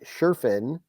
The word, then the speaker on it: Schriffen: John am I going to pronounce this right shien I can't help you man I have no idea s c h r i FF n John Sherin is uh is the new voice of the